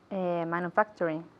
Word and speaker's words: manufacturing: Manufacturing. Manufacture. La U es como U. Manufacturing. Manufacturing. Okay, y la TU es ch.